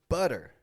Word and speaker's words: butter: off city data better butter notice how all four of those words have that super quick kind of t- sound city data better butter